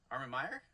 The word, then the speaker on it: Armen Meyer: Armen Meyer? Did I say it right? You nailed it.